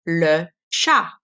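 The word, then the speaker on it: le chat: Jie the cat is Lu cha Lu ha okay so the T is silent so bird you'll see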